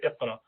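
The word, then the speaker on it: اقرأ: So if you say Aq, or in Quran it says Iqra, so how would you say Iqra?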